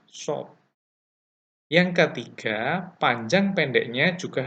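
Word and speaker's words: ص: Huruf shad membacanya dengan bibir agak ke depan seperti hendak bersiul, ya, shad.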